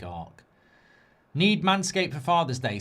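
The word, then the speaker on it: Arce: A R C E. I'd say Arc. I think you think Ar Nath, but I think Ark.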